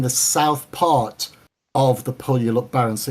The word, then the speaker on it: Puyallup: The Puyallup Barrens. Spell that for me. Puy. Yeah. ALL. Yeah. UP. Puyallup.